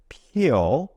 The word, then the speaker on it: peel: 알파벳 P가 P 이렇게 발음되죠. 한국말 피읍이죠. 그리고 알파벳 알파벳 E와 또 다른 E가 합쳐져서 이렇게 E로 발음되는데 살짝 길게 발음돼요. 이렇게 발음되죠. 그리고 알파벳 L은 한국말 리을이죠. 리을. 르 이렇게 편하게 리을로 발음해 주시면 되죠. 그래서 합쳐지면 peel 이렇게 발음돼요.